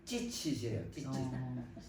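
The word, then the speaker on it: ציצית: 술을 하거나 그래갖고이 술이 치트라 그래요 아 그 발음이 좀 강하게 하면 찌치세요 그 여자들이 갖고 있는 찌찌 그거하고 비슷해요 근데 이게 이 옷자락에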